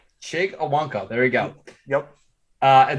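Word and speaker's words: Chig Okonkwo: At 95, we got the Bengals taking, can you please pronounce his name? The tight end from Maryland? Chig Owonkwo. Chig Owonkwo, there we go.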